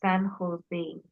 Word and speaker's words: San Jose: The the J is pronounced as H. So, it's San Jose State University.